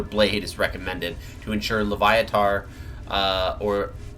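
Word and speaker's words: Loviatar: is recommended to ensure leviar uh or L Lev it's I think it's leviar is how it's pronounced or latar it is latar so latar is the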